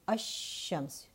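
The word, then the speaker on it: الشمس: So ash-shams, you do not hear the lam of al.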